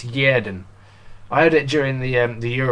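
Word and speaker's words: Xherdan: I think all this time, I think I've been saying Shaqiri's first name wrong. I've been saying Zerden all season. I think it's Yerden.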